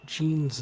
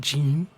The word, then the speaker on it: Jean: there white clef Wycliffe uh Zhang song It's pronounced Jean like a song so that's I've heard it before Wyclef Jean Jean Jean but when you see it you know you think Gene you know Gene you know whatever so Wyclef